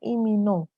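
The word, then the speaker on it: 이민호: ya kalau kita baca Tapi sebenarnya cara baca namanya yang benar adalah ini no Jadi bukan lip tapi ih Jones imino Joe seperti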